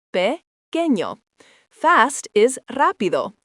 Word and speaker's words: pequeño: Small is pequeño, pronounced pequeño.